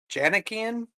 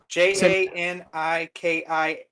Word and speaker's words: Janikian: Your Psilocybin Mushroom Companion is a great book by Michelle Janakian, but Spell it. it's Janikian.